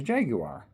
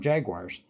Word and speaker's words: Jaguar: tend to call them jaguars but the proper pronunciation accur is jaguar and that's what they call them in England and it's the way it's spelled and you pronounce it the way it's spelled.